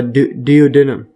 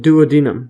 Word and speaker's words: duodenum: bile is discharged and do into the uh dood denum or duodenum duodenum yes so in stuff so there is a